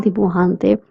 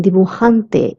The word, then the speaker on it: dibujante: The J sound in dibujante is k. That's why I'm saying dibujante and not dibujante. We don't pronounce it as j but k.